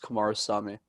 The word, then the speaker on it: Kumarasamy: Feel free to just say for MasterTalk, but my last name's pronounced Kumarasamy. Kumarasamy, lovely.